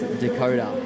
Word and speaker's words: Dakotah: Fun fact, did you know his actual name is Dakotah, like it's spelled on the screen right now?